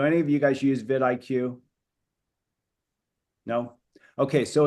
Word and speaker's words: vidIQ: vidIQ, like video IQ, vidIQ.